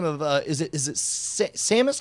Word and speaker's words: Samus: How do you pronounce the name of the main chick from Metroid? Is it Samus? I've always heard it as Seamus. Seamus. Okay. Well, Samus. Sorry. Her name is Sammus, and yeah, it's spelled in the game. It's spelled Samus. But she goes by Samus, copyright purposes or whatever.